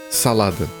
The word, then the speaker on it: salada: Salad in Portuguese is said salada. Okay, it has one extra letter and it's pronounced differently, it's fine. Instead of salad, we say salada.